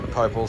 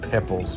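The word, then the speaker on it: Poeppel: It's all pretty easy driving up between the dunes to Popel's Corner, which incidentally I've been corrected on. Apparently it's pronounced Pepples, but whatever, in Australia it's spelt Popels, so we'll just stick with that for now.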